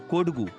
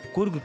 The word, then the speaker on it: कोडगू: दरअसल कोडगू, जिसका उच्चारण ब्रिटिश अधिकारियों के द्वारा कुर्ग किया गया, ऐतिहासिक काल से कुर्ग के जनजीवन सैन्य जीवन के साथ ही जुड़ा रहा।